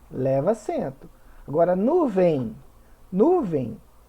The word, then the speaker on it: nuvem: leva acento agora nuvem nuvem a sílaba tônica é o vem então é uma oxítona terminada em ele não leva acento repórter sílaba tônica é